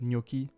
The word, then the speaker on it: gnocchi: Next, CH becomes C when pronounced K, but not for CCH, which is always pronounced K in Italian loans like gnocchi and radicchio.